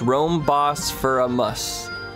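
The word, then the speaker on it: Rhoam Bosphoramus: diligent she can be distractable at times it's pronounced Rome boss for a mus Rome bosphoramus bosphoramus nice the hen map this is one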